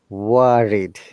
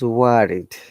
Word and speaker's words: worried: Say in the word worried. You see, you can see there is R, there is vowel I after it and vowel O before it. So it is worried. So R must be pronounced.